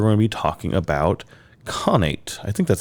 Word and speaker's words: Khanate: Conate. According to the Google machines, it's Connate. When you turn it on, like pronounce this for me and say it. Connate.